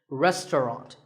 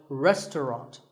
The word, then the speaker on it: restaurant: fancy spelling confuse you the second syllable is just tongue and the third is wrought so restaurant in British English you might hear just two syllables restaurant that is also correct after you eat at